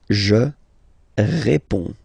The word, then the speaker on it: réponds: Je réponds. Okay, so you can see that D and S here are not pronounced.